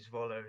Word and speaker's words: Zwolle: But I watched him a little bit when he was at, I think Zwolle is how you say it.